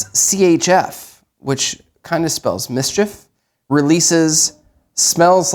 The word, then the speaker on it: Mischief: uh they've kind of Mischief is the way that you pronounce that um they do stuff